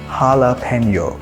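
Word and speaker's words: jalapeño: উচ্চারণ হবে এইচ এর মত সো এটার কারেক্ট প্রোনাউন্সিয়েশন হচ্ছে হালাপেনিও for example I হ্যাড এ হালাপেনিও cheese burger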